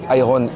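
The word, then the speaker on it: Irn-Bru: juste changé l'orthographe mais ça se prononca pareil donc iron IR O est devenu RN iron n blue BR W est devenu Bru genre pas mauvais bizarre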